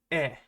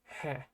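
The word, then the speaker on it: へ: When used as a particle, this toward directional particle means e. It's always pronounced e. Right? So this will be pronounced e and not he.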